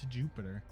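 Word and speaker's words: Iuppiter: protests Jupiter reprehend ray why is Jupiter have a I but it's still pronounced Jupiter is Latin just weird that way Oh that's from this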